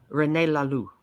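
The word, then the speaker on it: René Laloux: real renaissance man yes yeah is the name Rene Lalu is that how you say it yes okay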